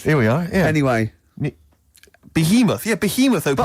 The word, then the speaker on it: Behemoth: Bethlehem or something. Bethlehem. Baoth. Behemoth. Behemoth is it?